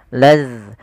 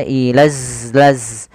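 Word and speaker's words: إِذْ: Kemudian hati-hati ya teman-teman di lafal huruf zal, jangan sampai kita membacanya ilaz laz dengan zai. Padahal di sini itu adalah huruf zal, yang mana makhraj dan sifatnya berbeda daripada huruf zai.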